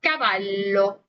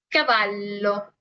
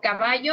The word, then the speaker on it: cavallo: Pero, pues para nosotros la doble L no es más que una L normal con lo que es una pronunciación un poquito más marcada y larga. Por eso caballo, caballo. Nunca se va a leer como en el español, ¿ok? Si ustedes me lo leen como caballo, está mal, ¿ok?